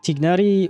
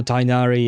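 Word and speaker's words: Tighnari: Does that mean Tignari or Tinari as they pronounce it?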